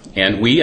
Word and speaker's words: Anhui: And it happened to be Anhui, I believe is how it's pronounced, province down in here, where the original PED virus came from.